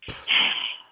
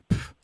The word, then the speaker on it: pff: So there's this sharp plosive sound that you make when you are reacting dismissively. So you go, pff, like it's a sharp exhalation of air with a P sound at the beginning, like pff, puh.